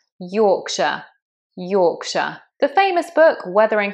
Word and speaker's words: Yorkshire: This is an example of where that shire just becomes a sh. Yorkshire.